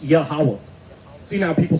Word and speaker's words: Yahweh: So, and you read it right to left. Yahweh. But the way it conjugates at the end is Yahweh. That's how you say it.